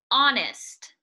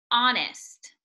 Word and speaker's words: honest: Honest. Honest. Make sure you are not pronouncing that H.